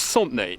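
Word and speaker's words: Santenay: Okay, so welcome to, well, it's pronounced Sauntenay.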